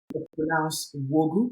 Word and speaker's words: Nwaogu: Ah, so my son name is pronounced Wogu. So the A is silent, so just literally saying, and the N sometimes, can be silent as well.